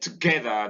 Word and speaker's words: together: And then GE takes the stress, and the ER at the end of together too is weak. So the word together is a word of three syllables, but only one syllable takes its force of stress, and so the other two syllables contain the schwa.